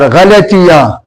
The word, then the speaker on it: غلطی: गलती, गलत غلطی اور غلطیاں جو اس کی جمع ہے. تو دیکھیں غلطی غین کے اوپر زبر، لام کے اوپر زبر، تی اور چوٹی یہ ساکن.